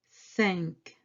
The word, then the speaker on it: cinq: Cinq. En is nasal. You pronounce this syllable from the nose.